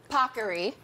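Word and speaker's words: paccheri: This is, as the Today Show team made sure I pronounced properly, Pockery.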